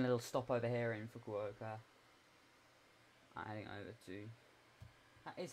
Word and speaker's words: Fukuoka: We're taking a little stop over here in Fukuoka.